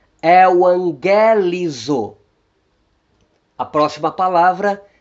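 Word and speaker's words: εὐαγγελίζω: O gama antes das guturais capa, gama e ri vão soar como N.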